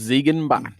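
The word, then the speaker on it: Ziegenbock: So how do you pronounce this? It's Ziegenbach.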